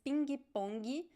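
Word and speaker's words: pingue-pongue: at the end right so the pronunciation is pinkie pongi very clear pronunciation of the ghee at the end which is very different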